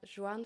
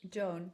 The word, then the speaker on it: Joan: And I'm Alina Jacobs, and today I have the pleasure to have JOAN. Do I pronounce it? Joan. Joan.